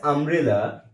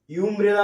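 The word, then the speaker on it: umbrella: He lost dash আমব্রেলা ইন the train, এখানে আমব্রেলার আগে ইউ রয়েছে, এই ইউটা কিন্তু ইউমব্রেলা আমরা বলছি না, আমরা বলছি আমব্রেলা। তো আমব্রেলা যখন বলছি ইউটা আ উচ্চারণ হচ্ছে, তাই এখানে ইউ ভাওয়েল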